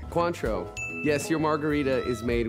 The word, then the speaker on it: Cointreau: is french um quotes help me cointria you country you help me i don't know how to pronounce this country you say i sound like the closest pronunciation cointreau yes your margarita is